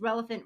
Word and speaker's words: Relofant: But just Relevant rhymes with elephant, and I see that's kind of in your logo.